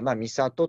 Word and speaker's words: 美郷: 美しい里と書いて、美里というふうに呼びます。